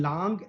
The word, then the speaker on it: langue: And langue, what is langue? We have to pronounce it langue, not lang.